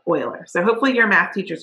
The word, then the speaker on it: Euler: I grew up thinking it was called Euler, and it's so not. It's Euler, okay? Like O-I-L-E-R, Euler. So hopefully your math teachers are better than mine. But Leonard Euler was a Swiss mathematician.